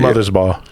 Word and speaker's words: Mothersbaugh: And the main dude, Mark, is it Mothersbaugh or how do you say it? Mother's Ball.